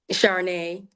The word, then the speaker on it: Charnay: How you pronounce your first name? Charnay.